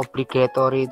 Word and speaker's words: obligatory: Yang pertama kata obligatory itu sendiri ya. Bacanya obligatory. Oblig ya. Obligatory ya.